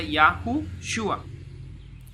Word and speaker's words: Yahushua: Vav, Shin y Ayin, el cual se pronuncia Yahushua.